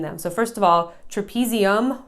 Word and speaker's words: trapezium: So first of all, trapezium rhymes with thumb.